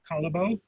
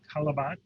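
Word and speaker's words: Callebaut: Calabo Calabo. or Calabat, depending on whether you're French or Flemish.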